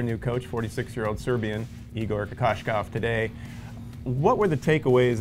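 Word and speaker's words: Kokoškov: There is a silent H in there. Yeah, well, it's not silent because it's Shh, Kokoslov. Yeah, I guess, so, yeah. It's not H.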